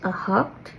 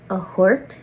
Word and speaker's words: a hocht: And then 8 is a hocht or a hort for some people in the north.